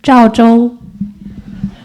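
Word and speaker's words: Zhaozhou: Can you pronounce out loud in Chinese? Zhao Zhou.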